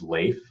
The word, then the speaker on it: Leif: My name is Leif. It rhymes with safe.